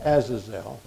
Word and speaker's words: Azazel: del Antiguo Testamento in Leviticus 16:8, which is pronounced Azazel, que se pronuncia en Levíticos 16, capítulo 8,